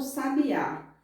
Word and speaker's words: sabiá: Na palavra que nós lemos, a última sílaba ela é pronunciada com mais intensidade, quer dizer, com mais força.